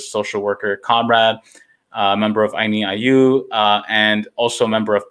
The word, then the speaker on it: Ayni Allyu: I also want to make sure we get the correct like spelling and pronunciation. Yeah, it's Ayni Allyu.